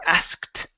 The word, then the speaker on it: asked: trick here is that we actually get rid of the K we don't pronounce the k sound so we say um instead of ask or asked okay it's asked like that asked okay okay